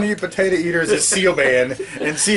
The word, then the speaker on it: Siobhan: It's Siobhan. See? I knew you'd be able to do it. And I was like, Siobhan.